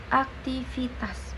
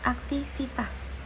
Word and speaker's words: aktivitas: Nah, jadi aktivitas, kata aktivitas itu yang tidak baku itu menggunakan huruf F. Nah, itu tidak baku, ya. Yang baku itu menggunakan huruf V. Jadi aktivitas bukan aktivitas.